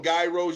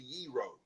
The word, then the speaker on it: gyros: gro people call them gyros You're right. Gyros, gyros, but it's actually yro, you know, is silent in Greek language.